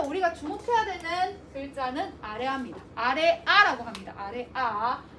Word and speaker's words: 아래아: 아래아라고 합니다. 아래아. 아래아는 아와 오의 중간 발음. 아와 오의 중간 발음. 아오? 그지? 그래서 뭐야? 보통 그냥 아로 발음을 해.